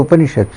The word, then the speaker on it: Upanishad: Upanishad, it has 3 syllables, Upa, Ni and Shad.